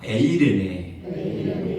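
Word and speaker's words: εἰρήνη: 사랑하는 성도 여러분, 이 평강이라는 단어를 원어로 보면은 이렇게 발음할 수가 있습니다. 아마 많이 들어보셨을 거예요. 따라서 합시다. 에이레네.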